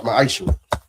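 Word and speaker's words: מעשר: Means 10th in Hebrew and it's pronounced ma'aishu.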